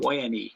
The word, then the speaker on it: Pyne: Tom says, pronounced like pine. There's enough pain in this word. That is true, my friend. Pyne, yes.